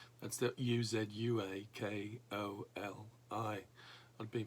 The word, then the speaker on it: Uzuakoli: It's one of several projects we visited that the church runs in the area of Nigeria called Uzakoli. That's the Uzuakoli. I've been pronouncing it wrong for a long time.